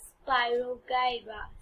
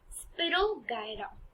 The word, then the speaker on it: spirogyra: the correct pronunciation is there are two ways which you can either Spyro Gyra Spyro Gyra or spirogyra yes so Al like